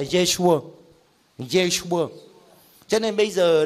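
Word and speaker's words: Yeshua: Tiếng Do Thái tên của Chúa Giê-xu đọc là Giê-xua.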